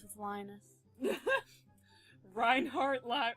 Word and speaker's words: Reinhardt: it rhymes with lius Reinhard Li rhymes with lius does it Ryan lion it it's Reinhard not ryanard line lion okay okay